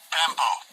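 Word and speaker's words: πέμπω: So God, in this PEMPO, P-E-M-P-O, how'd I pronounce that? Strong's G 3992. PEMPO.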